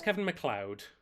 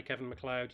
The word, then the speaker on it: Kevin MacLeod: I think it's Kevin MacLeod.